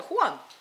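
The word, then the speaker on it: Juan: жуан ваша жен живая откуда появляется это хуан пропущенной через итальянской комедии дель арте они сохраняют испанское имя которая по итальянски читается как же вот эта охота читается как же поэтому это странное имя которой нет ни в одном европейском языке такого имени жуан да так что по-испански это хуан а дальше обо всех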